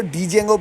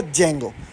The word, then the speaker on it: Django: कुछ लोग इसको डीjango पढ़ते हैं। कुछ इसको जेंगो पढ़ते हैं। तो we pronounce it ऐज़ अ जेंगो।